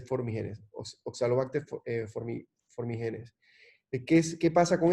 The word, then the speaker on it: formigenes: bacteria que se llama Oxalobacter formígenes o formigenes, porque si no lleva tilde debería ser formigenes, Oxalobacter formigenes.